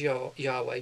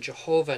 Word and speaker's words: Yahweh: The vowels were added later on to give the pronunciation Jehovah in English, and then now scholars more recently feel that Yahweh is probably closer to the original.